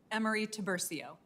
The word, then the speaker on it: Emery-Tiburcio: How do you actually pronounce it, though? Emery-Tiburcio.